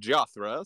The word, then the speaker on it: Jothra: it is indeed pronounced jothra sort of like um if you were to say joshua but if you were pronouncing it with a lisp or in my opinion